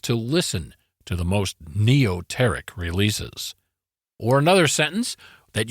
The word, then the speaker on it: neoteric: is this week's Wordsmith word of the episode neoteric okay say that one more time so we can hear that pronunciation neoteric all right neoteric spelled NE EO t r i c NE